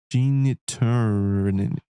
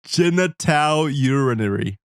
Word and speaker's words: genitourinary: Now, how do I pronounce it? Genitourinary. I still can't say it, even with the pronunciation guide. Genitourinary. There we go.